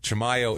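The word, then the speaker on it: Chimayó: Chamayo is the way you pronounce it cuz I listen to newscast to make sure.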